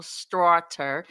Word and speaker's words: Straughter: So, when I first met you, I my eyes tried to make your last name be Slaughter.